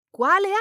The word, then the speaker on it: quale: To ask which or which ones in Italian is quale, which sounds like qualify in English, because when something qualifies, it means it's the one you've chosen from all the others.